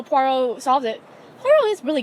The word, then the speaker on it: Poirot: a parrot for mr poor rot and poor i was like poirot it's pronounced poirot and the man's like